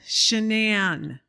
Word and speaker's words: Sineann: think Sinead O'Connor or Sinn Féin, you know, Okay. S-I in Gaelic.